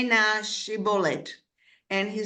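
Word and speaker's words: שיבולת: And they said to him, say na shibolet. And he said, shibolet. And he was not prepared to pronounce it properly.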